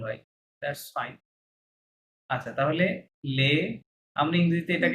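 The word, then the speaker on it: les: আচ্ছা, তাহলে লে, আমরা ইংরেজিতে এটাকে লে আসলে কি বলতাম? লেস বলতাম, তাই না? লে লেস বলতাম। কিন্তু এস ইংরেজিতে যেহেতু ফরাসিতে লাস্ট লেটার উচ্চারণ হবে না, তাহলে লেস এর থেকে এস লে বাদ দেন।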